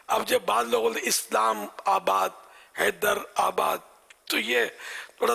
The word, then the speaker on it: اسلام آباد: صحیح تلفظ بھی ہے اسلام آباد، سمجھے کہ یہ عربی